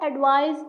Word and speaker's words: advise: On the other hand, advice with an S is an action verb, meaning to give a suggestion. It has a Z sound. For example, I advise you to study harder.